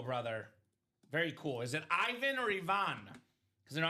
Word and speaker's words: Ivan: Is it Ivan or Ivonne? Because you know I'm Bulgarian, Robbie, and Ivonne is my cousin's name. Oh, okay. Pronounced Ivan, not Ivan, so Bulgarians would call it Ivonne.